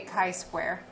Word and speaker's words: chi-square: say it wrong but i say chi-square so it's like it's a wonky x yes and it is spelled c-h-i and it's square not squared chi-square and then goff is